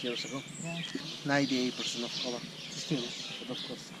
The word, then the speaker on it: Coba: Then was Coba. Coba is the second oldest in the city. But in our language today, Mayan Yucateco, that's pronounced Coba.